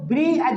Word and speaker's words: bridge: देखिए यहाँ पर देखो, ब्रिज, इसको ब्रिज पढ़ेंगे क्योंकि आपका डी साइलेंट है। देखो डी क्यों साइलेंट है, कि डी के बाद जी आ गया। देखो डी के बाद जी आए तो डी आपका साइलेंट रहेगा। तो देखो यहाँ पर डी साइलेंट है। डी किस लिए साइलेंट है, कि इसके बाद में डी के बाद वाला लेटर बाबू जी है। डी के बाद वाला लेटर क्या है, तो जी है।